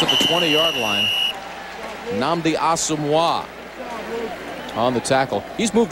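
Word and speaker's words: Asomugha: Think hockey. Patrick Wah, all right? Asamoah. Very good. Nnamdi Asamoah.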